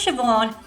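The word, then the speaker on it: Seán: become liame mid video challenge for you try pronouncing these names this one is Ty this one is Shon this one is aen and this one is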